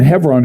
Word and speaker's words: Hebron: Hebron, I call it, I try to say Hebron because my Jewish friends say, oh, it's so wonderful to have somebody say it correctly.